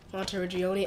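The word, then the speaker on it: Monteriggioni: So, I don't really want to go out of Monte Regioni.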